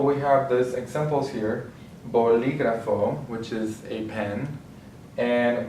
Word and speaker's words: bolígrafo: So since we have the accent on the I, we're going to say bolígrafo. That's where the stress syllable is going to be because the marked accent is telling us that.